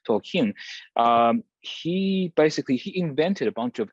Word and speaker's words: Tolkien: Tolkien, the writer of The Lord of the Rings, and he actually the stress is on the final syllable, so it's actually not Tolkien, but Tolkien.